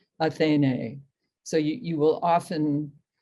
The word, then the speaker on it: Athene: end of the line because her name has two long syllables athene so you you will